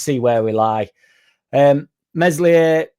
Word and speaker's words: Meslier: Um, Meslier, Silent S dropped.